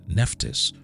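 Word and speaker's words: Nephthys: on to number nine nephtis or her name is also pronounced nebet head in ancient Egyptian was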